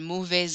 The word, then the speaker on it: mauvais: Same thing with mauvais, I don't usually hear that S, but followed by an O, I will. J'ai un mauvais ordinateur to make it flow.